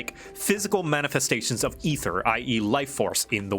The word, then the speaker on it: aether: It's pronounced ether. That's how they pronounce it. They don't pronounce it aether. I know it's got an A in it.